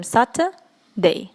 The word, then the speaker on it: Saturday: То есть вот эти буквы U и R, которые стоят у нас посередине слова, да, в самой середочке, их мы как бы не произносим, и просто говорим Saturday.